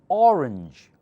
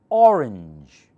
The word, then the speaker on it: orange: one look all parties louder orange orange if it's an orange most people who think you said arrange which is a different word say orange and this one a range range louder orange or louder a